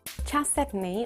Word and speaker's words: chalcedony: Chalcedony, or chalcedony, depending on how you pronounce it, is best thought of as a species name rather than an individual gem material.